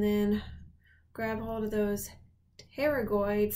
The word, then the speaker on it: pterygoid: Find that optic canal and then grab hold of those pterygoid, spelled with a silent P, processes.